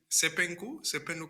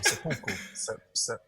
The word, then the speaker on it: seppuku: Because the thing is, I even knew about Sepenku, or Um, no, let you say it wrong. I can't say it right. Seppuku.